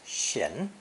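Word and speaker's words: 閒: original character depicting the moon between two doors pronounced shin was reserved for the gap itself the void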